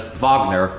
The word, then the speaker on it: Wagner: Aldridge and fronze Vagner even though it should be pronounced Wagner but it's vogner for some reason um release speed mats